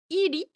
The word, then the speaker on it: 入り: Et donc là elle demande pourquoi on a vu donc iri donc c'est toujours le kanji de hairu hairimasu mais qui se prononce ici iri.